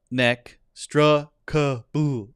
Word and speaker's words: inextricable: It's not inextricable. It's inextricable. They have the stress on neck, inextricable. No, it's pronounced inextricable. And the strict is stressed.